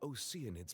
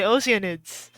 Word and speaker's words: oceanids: O your dissipated oids did you say oids mean oids it's actually oceanids I've been pronouncing it wrong the entire time anyway perhaps those two